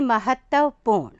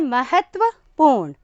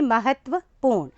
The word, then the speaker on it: महत्वपूर्ण: और लोग इसका उच्चारण कई बार कर देते हैं महत्वपूर्ण, जबकि सही उच्चारण है महत्वपूर्ण। महत्व, मेरी ज़िंदगी में कई महत्वपूर्ण बातें हुई हैं, तो हम सही उच्चारण करेंगे महत्वपूर्ण।